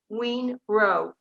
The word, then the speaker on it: Yun Rou: this, and it's called Mistress Miao, which we pronounce as Miao, but Miao, and this is Monk Yun Rou, and that's Yunrou.